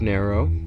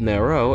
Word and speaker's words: Nero: basically way back when at the beginning of narrow which is long gone uh way back when